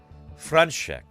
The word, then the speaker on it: František: And Czech Morticia says the S in František is pronounced as an SH. František.